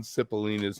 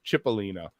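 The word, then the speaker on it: Cipollina: You know, I found out that I was pronouncing John Cipellina's name wrong. Just as an aside, apparently it's Chipelina.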